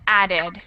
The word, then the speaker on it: added: Liked actually just has 1 syllable, and that is a very difficult thing to tell because it's spelled the same as added. They both have ed at the end, but one is pronounced as 1 syllable and the other is pronounced as 2 syllables.